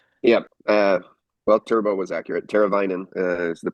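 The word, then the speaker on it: Teräväinen: Teravainen is the pronunciation for the last name.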